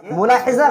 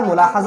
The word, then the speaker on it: ملاحظہ: طریقے سے لاحظہ یلاحظ، ملاحظہ یہ عربی کا لفظ ہے، مصدر ہے، یہ ملاحظہ غلط ہے، ملاحظہ ہونا چاہیے۔ اور کسی نے کسی